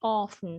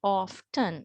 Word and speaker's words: often: So keep in mind that the T is not pronounced. The T is silent, right? So as an example, maybe often. Sometimes I have heard that some say often, but here we do not pronounce the T.